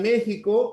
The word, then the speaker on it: México: Luego, en la palabra México, la X suena como una J, no se escribe con mayúscula.